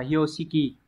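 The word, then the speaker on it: 標識: Từ này đọc là Hyoshiki.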